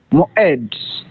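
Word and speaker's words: מועד: Moed. Beautiful. Mo'ed. Here's an instance of our cholam. And two syllables, one open and one closed. Mo is open and aid is closed.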